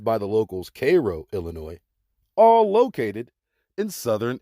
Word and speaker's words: Cairo: Egyptian cities like Thebes Illinois Karnak Illinois Cairo pronounced by the locals Cairo Illinois all located in Southern Illinois also known